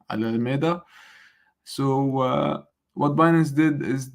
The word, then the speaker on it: Alameda: So I guess I got it right, the pronunciation, Alameda.